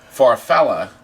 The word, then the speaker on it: Farfalla: and we're trying to figure out how to pronounce Zacharias Farfalla Vera Phil no no there's no a far fella means butterfly in Italian and that's coming and